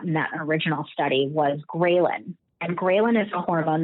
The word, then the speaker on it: ghrelin: But ghrelin is the opposite. Hey, you need more. Ghrelin is spelled g r e h l i n, but I remember it as like a gremlin.